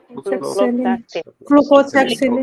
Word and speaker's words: Flucloxacillin: Flucloxacillin.